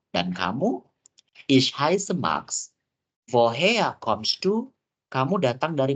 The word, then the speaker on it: woher: Ya, jadi seperti yang aku bilang tadi, huruf R kalau dalam bahasa Jerman tuh nggak terlalu yang kayak woher. Jadi bacanya woher. Jadi huruf R ini seakan-akan huruf A.